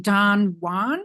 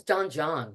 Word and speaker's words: Don John: Yasha and I'm playing Don Juan is that how we pronounce it I guess it's Don John that's what I joh I was saying Don John um until now and also